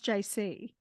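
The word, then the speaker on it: Jacy: and my real name is pronounce JC but it's spelled j-a-c-y and so I made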